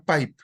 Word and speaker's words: pipe: Se pronuncia pipe.